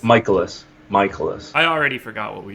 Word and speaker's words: Mikolas: Miles Mikolas. I sound really weird when I try to say it correctly. Going for St. Louis. Mikolas? I think it's Michaelis.